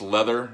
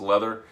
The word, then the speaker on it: Lather: this is uh pronounced leather I know it's spelled lather but this is actually pronounced leather um three discs loved